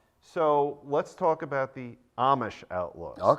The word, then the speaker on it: Amish: It's spelled Amish, but it's Amish.